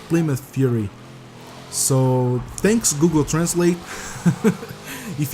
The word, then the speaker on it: Plymouth Fury: was pronouncing very wrong I used to say my mouth theory but is actually I think Plymouth Fury so thanks Google Translate